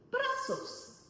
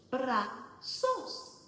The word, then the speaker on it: brazos: Brazos. Brazos is how you say arms in Spanish. Brazos. Brazos.